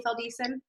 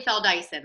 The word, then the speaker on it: Feldeisen: in on my laptop it's spelled Dyson Dyson uh I thought I had it all right fell Dyson I am so sorry